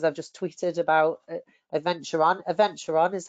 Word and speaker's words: Adventuron: Adventuron is how you say it.